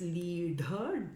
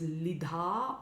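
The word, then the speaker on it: līḍha: The sound is made by the tongue in the retroflex position, so it's actually hitting the palate, the roof of the mouth. So it's leadha. It's commonly mispronounced as lidha or lidha.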